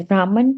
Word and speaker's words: Brahman: yes Krishna is realized in different degrees as brahman permatma and the supreme personality of godheadrishna consciousness means never pronounced brahman brahman would have a dioritic on